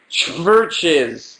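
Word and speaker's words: CHVRCHES: since last Tuesday is churches which is churches with a V churches spelled with a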